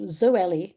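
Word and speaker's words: Zoely: now available in three pills and they're called zoeli z o e l y uh Clara which is spelled with a Q and dellis but particularly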